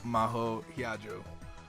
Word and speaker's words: Maho Hiyajo: Maho Hiyajo. Oh god. Hiyajo. Maho. Hiyajo. Good, thank you for pronouncing that for me.